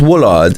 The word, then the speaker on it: Woollard: It's pronounced Woollard.